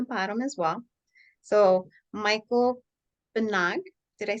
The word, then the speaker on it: Banaag: So Michael Banaag, did I say it correctly? Pretty good. It's much better than Pretty most. good. Yeah, Close. yeah. It's Banaag.